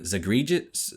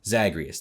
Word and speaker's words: Zagreus: that like the character of hades is named zagreg i can't pronounce his name davey help me out here zacharias zagreus thank you and he's basically a son of